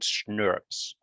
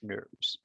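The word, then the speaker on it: snRNPs: Right, and these are called SNRPs. So I don't know if any of you ever had Schnapps, which is a German liqueur, but you pronounce it kind of the same, SNRPs.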